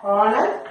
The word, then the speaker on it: honest: Then from the last one, is a honest man. Instead of a, you have to write and because H is silent, so yeah, you have to give importance for O.